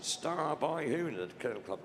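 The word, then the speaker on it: Stabyhoun: Pronounced Star by Hoon, the kennel club name.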